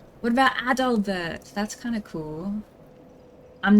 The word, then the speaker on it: Adalbert: No, not Adolf. Ad doll. A D A L. Bert.